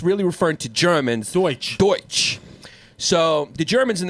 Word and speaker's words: Deutsch: So, that's funny because Deutsch is how you say German in German.